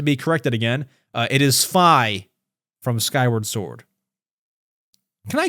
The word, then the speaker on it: Fi: I always called her Fee, but when I call her Fee, I get corrected by people saying it's pronounced Fi.